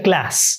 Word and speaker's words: Claes: Edgar Class o claes se pronuncia Class pero vamos a decirle Edgar claes que es como se escribe y lo lo pronunciamos